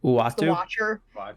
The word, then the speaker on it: Uatu: remember how to say his name ever it's uatu watcher thank you um i'm wondering if we're gearing up for the trial of owatu because in the comics he like does a